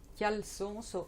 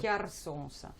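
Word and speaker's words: cjarsons: Ça, si tu veux, c'est des raviolis qui, à la base, ils s'appellent chialsons ou chiarsons. Il y a les deux prononciations sont utilisées.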